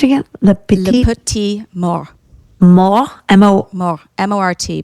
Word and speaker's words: mort: Le le petit petit mort, mort, M-O, mort, M-O-R-T, but the T is silent. le petit mort.